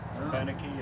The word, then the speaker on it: Abenaki: Abenaki. Yeah. I never heard it pronounced. That's the way it's supposed to be said.